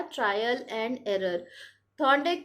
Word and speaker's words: थॉर्नडाइक: ठीक है, और थॉर्नडाइक, थोड़े लोग शायद थॉर्नडिक कहते हैं, लेकिन you know proper nouns can be pronounced in any ways, but famous जो है थॉर्नडाइक थियरी है।